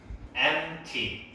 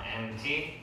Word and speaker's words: empty: Empty. 여기 P 발음도 거의 안 해. Empty.